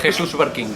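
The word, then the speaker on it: Jesús Barquín: Is that correct pronunciation? More or less. Okay. Jesus Barquin.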